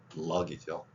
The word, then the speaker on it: luck: 그리고 살면서 가장 바라는 게 luck이죠. L 발음이 맨 앞에 있기 때문에 을의 입모양에서 니을 두 번 한다는 기분, luck.